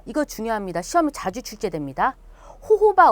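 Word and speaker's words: jojoba: 중요합니다 시험이 자주 출제됩니다 호호바 오일이라고 하고요 혹은 발음기호에 따라서 조조바 오일이라고 합니다 같은 거예요 그다음에 여기 캐리 오일이라는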